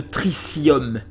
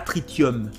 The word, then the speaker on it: tritium: appelle le noyau de tricium trium pas tritium d'accord il y a un TH ça se prononce ce ce tricium voilà rien à voir